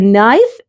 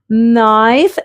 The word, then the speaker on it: knife: This is a knife, and these are knives. Notice that the K in the word knife is silent.